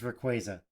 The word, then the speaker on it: Rayquaza: Rico quaro sorry and if they're going to pronounce it like that then it is Rayquaza so I have to give and just like